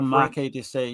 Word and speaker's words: Marquis de Sade: Based a lot of films on Marquis de Sade. Is that how you say it? The Marquis de Sade, yeah.